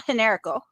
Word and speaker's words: Generico: Kevin Steen and El Generico. Like I use the proper Spanish pronunciation of the Generico.